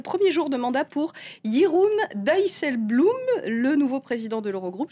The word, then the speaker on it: Jeroen Dijsselbloem: Et puis aujourd'hui, c'était le premier jour de mandat pour Jeroen Dijsselbloem, le nouveau président de l'Eurogroupe. J'espère que je prononce bien, Myriam.